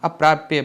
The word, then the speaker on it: अप्राप्य: अप्राप्य बोलेंगे, ठीक है, ध्यान से उच्चारण करिए।